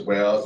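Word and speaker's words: WAU: And I pronounce it as WOWs, and obviously other people pronounce it differently, but we pronounce it as WOWs.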